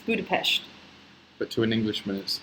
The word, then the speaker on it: Budapest: What are your plans after Budapest? We got lots of Europe travel plans. Let us get to Budapest first and try and sort out our life.